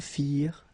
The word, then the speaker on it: firent: Remember, ending ENT for the plural, you don't pronounce it.